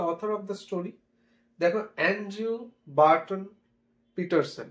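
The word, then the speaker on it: Paterson: দেখো, Andrew Barton পিটারসন। এটাকে আমরা পিটারসনই উচ্চারণ করব, অ্যান্ড্রিউ বার্টন পিটারসন।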